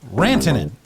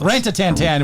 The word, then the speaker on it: Rantanen: It is Rantanen. Mikko I wasn't that far off. Rantanen. She was actually pretty close. Rantatantan was not the right way to pronounce it. But there's a n in there.